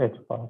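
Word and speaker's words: ħ: right right one H bar H bar it's pronounced H bar okay okay and then this will just be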